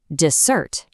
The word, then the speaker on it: dessert: But add an s and suddenly you get dessert, the sweet treat, which stresses the second syllable, dessert.